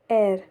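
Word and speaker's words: heir: हमारा second word है एर इसमें एच साइलेंट रहता है और यह जैसे प्रोनाउंस होता है इसका मतलब होता है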